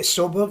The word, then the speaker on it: Sjöberg: How do you pronounce it? Sjöberg? Yeah, Sjöberg.